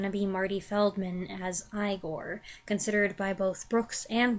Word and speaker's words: Igor: though it's going to be Marty Feldman as Igor considered by both Brooks and Wilder to be the True Heart of the film you must be Igor now it's pronounced Igor but they told me